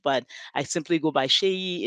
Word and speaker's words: Seyi: I simply go by Seyi. It's easy. People call me because it's easier for our North American friends to pronounce it that way, but it's as it's pronounced Seyi with an H.